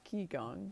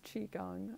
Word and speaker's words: qigong: here we do qigong which is spelled q i which a lot of people pronounce ki gong but it's chi gong uh chi the life